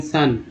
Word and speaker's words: son: उसके बाद दोस्तों देखिए यहाँ पर ओ वाला चलते हैं, ओ वाला में खासकर मान लीजिए कि SON सन, ओ का उच्चारण आ के रूप में हुआ है।